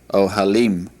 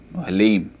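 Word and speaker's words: אהלים: All right, the word for tent is ohel, ohel, and the word for tent in the plural is ohalim, ohalim.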